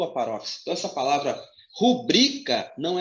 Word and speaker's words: rubrica: Essa primeira palavra, a sílaba mais forte é o bri. Então, pasme, você que não sabia. A pronúncia é rubrica. Rubrica.